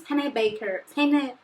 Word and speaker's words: Pennebaker: James Pennebaker. Penny tipo penny da massa e baker tipo padeiro.